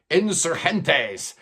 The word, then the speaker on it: Insurgentes: It's Steven Wilson and Insurgentes. which I guess is the proper way to say it since it's based on a street in Mexico City where they were recording this.